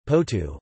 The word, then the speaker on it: Porto: Porto, Portuguese pronunciation, Porto, also known as Oporto in English, is the